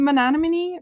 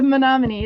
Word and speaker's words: Menominee: milwaukee you'll go to the monony menominee bridge i'll say it right the menominee it took me forever to figure out how to say that and it'll open for